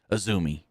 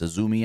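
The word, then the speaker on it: Azumi: NJPW strong women's champion, Aumi, which I guess that's how you say her name. It's a but it's a zoomi. I guess I was wrong on that one.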